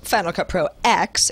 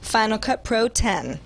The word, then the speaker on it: Final Cut Pro X: was how he chose to say it, being pronounced Final Cut Pro X, it turns out that's wrong. Apple told me today at its London headquarters it's pronounced Final Cut Pro 10.